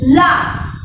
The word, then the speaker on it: laugh: Okay, read the first word, that is laugh. See, the spelling is L-A-U-G-H, but we are not pronouncing GH as G, it is fa.